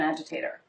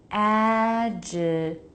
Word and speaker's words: agitator: Some washers don't have an agitator.